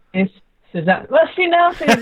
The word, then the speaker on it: Zuzana: Zuzana is the proper way to say it, but now all the English-speaking people say differently. They put it just in the second syllable, so everyone calls me differently, and that's fine.